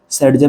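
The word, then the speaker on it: Saytzeff: करते हैं हम कैसे सेड जव के नाम से उसको प्रोनाउंस करते हैं बाकी ये चीज हमारे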